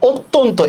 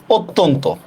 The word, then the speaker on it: অত্যন্ত: দেখেন, অধ্বনির পরে জফলা হইছে, অধ্বনির পরে জফলা হইছে, এই জন্য এটা ও হয়ে যাবে, ঠিক না?